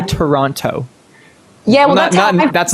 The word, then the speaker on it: Toronto: I'm actually playing one in Toronto or Toronto. No, you're not supposed to pronounce. You're not supposed to pronounce the last T. Isn't that right? I say Toronto.